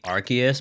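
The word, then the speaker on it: Arceus: How do you pronounce Arus? For me, it's Arcus. What? Arus. Apparently, it's supposed to be Archus, but I'm I'm not saying Archus, bro, after I've been saying Arus my entire life.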